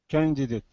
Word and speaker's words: candidate: it is spelled candidate candidate candidate candidate so it's more like this can excuse me can it candidate candidate yeah I kept